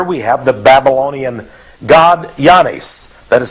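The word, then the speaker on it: Oannes: And here we have the Babylonian god Yanis. That is spelled O-A-N-N-E-S.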